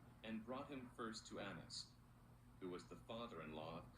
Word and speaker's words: Annas: 근데 이렇게 두 개의 자음이 똑같이 이렇게 쓰이면은 발음을 하나만 해요.